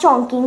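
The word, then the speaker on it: Chongqing: हम फिर एक आता है चौकिंग। चौकिंग हां चोंकिंग इसकी स्पेलिंग है सी एच ओ एन जी क्यू आई एन जी।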